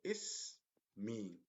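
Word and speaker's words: اسمي: So is me. So as you can see here, there are two syllables here.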